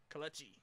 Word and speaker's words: Kelechi: Kelechi.